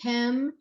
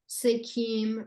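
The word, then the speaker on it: Sekhem: in 1997 with certifications in, I'm going to mispronounce this type of Reiki. Can you say that? Skate? Yes. What is that? It's Sekem Sekim Reiki.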